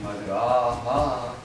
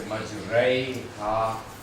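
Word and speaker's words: مجراها: Instead of saying Majraha, we twist it towards a Ya. So this Alif is twisted, not pronounced like Alif, it's pronounced like a Ya, and you say Majraiha, complete twist.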